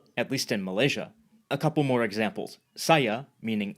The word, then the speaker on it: saya: Saya, meaning I, is pronounced, saya, and pertama, meaning first, is pronounced.